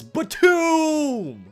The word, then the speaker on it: BTOOOM: anime series known as BTOOOM! You have to yell it because there's 3 O's in this word. If you don't yell it, you're saying it wrong.